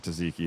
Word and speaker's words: tzatziki: Veggie tzatziki white base, our famous 4-cheese blend. Kalamata olives, roasted cherry tomatoes, and artichokes, finished with house-made tzatziki. I don't think I'm saying tzatziki at all properly, but I'm just one man.